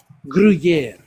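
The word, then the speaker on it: Gruyère: Gruyere. Yes, I would. Gruyere. A green Gruyere. Gruyere.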